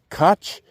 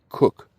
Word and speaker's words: Koch: Koch, which I've always pronounced Koch, but I know a person with that last name, and they pronounced it Cook.